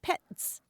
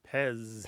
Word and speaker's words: PEZ: last letter Z and in German that's pronounced pets mhm but in English we pronounce it Pez Pez I see it